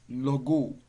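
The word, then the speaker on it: λόγῳ: Dative is logo. Logo. Logo, you can see iota subscript on there. So you don't pronounce the iota subscript, but it must be included in your written form, your writings.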